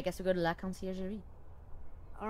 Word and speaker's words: Conciergerie: They step into the marble slab creamery of the conciergerie prison. Sullen-faced guards and visitors linger beneath the medieval archways. How did you pronounce it?